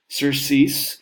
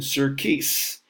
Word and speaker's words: surcease: All right, so this word, surcease, somebody in the class keeps saying surcease because there's a C there.